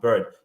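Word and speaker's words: Byrd: Robert B bird sorry I think that's the way his name is pronounced bird spelled b r d Senator bird was he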